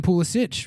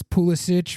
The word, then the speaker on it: Pulisic: And Christian Pulisic just transferred to AC Milan, and apparently he told Italian media that it actually is pronounced Christian Pulisic, which is how I had been pronouncing it, and I corrected it from that.